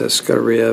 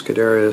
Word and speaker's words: Scuderia: of my scooter is some people pronounce s Correa but I heard the head of the company calls good area so I'll go with that and again same my